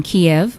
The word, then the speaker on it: Kiev: was growing up in the Soviet Union in Kiev did I pronounce it properly yes you did we practiced